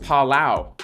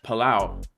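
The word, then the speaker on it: Palau: the Earth creating Islands that's what's up it's pronounced palao palao palao okay okay um can we look at xrp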